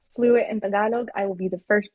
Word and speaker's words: Tagalog: I uh I for the longest time I didn't know it was pronounced tagalog. I thought it tagalog. I thought I thought it was spelled like tagalog like tag along like you're tagging along somewhere.